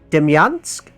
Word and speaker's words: Demyansk: Now this one, I'm going to butcher the pronunciation, and that is Demyansk, I think is the pronunciation.